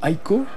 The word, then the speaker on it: Ico: Ça rappelle Shadow of the Colossus, Ico, puisque évidemment ils étaient deux dans Ico, ou Aiko, prononcez comme vous voulez.